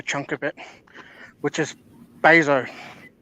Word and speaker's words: Bezos: I think Amazon owns a fair chunk of it, which is Bezos. Bezos. That's how you pronounce it.